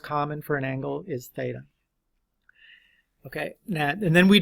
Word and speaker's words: theta: the Greek letter Theta right that's how you pronounce it Theta and you sometimes we use different variables but that's the most common for an angle is Theta okay now and then we Define okay we